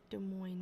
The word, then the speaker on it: Des Moines: Contractor Barney Marsh is here from Des Moines to look after, Des Moines, right? The S isn't pronounced.